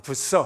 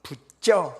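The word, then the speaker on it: Bucer: 내가 미국식 발음으로 마틴 부서 합니다. 원래는 이분이 독일 분이니까 마틴 부쩌 이렇게 발음해야 돼요.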